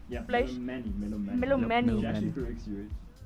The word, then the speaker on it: Melomani: Melomani.